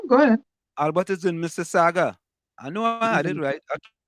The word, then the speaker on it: Mississauga: Oh, like highly lives in Mississauga. Canada too. Mississauga. Oh Lord, they didn't teach all the phonics Mississauga in Pimaka. is Mississauga. It's not Mississauga. Mississauga. No, the U is the U is silent.